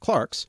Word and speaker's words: clerk: in the Middle Ages clerks sometimes now pronounced Clarks were the only well-educated